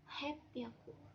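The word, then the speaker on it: はっぴゃく: baik-baik ya teman-teman semua kalau 300 itu dibacanya sang biaku kalau 600 dibacanya ropiaku dan dan 800 dibacanya hepiaku nah itu yang harus teman-teman ingat karena cara bacanya beda sendiri tidak sesuai polanya kemudian ee kalau pada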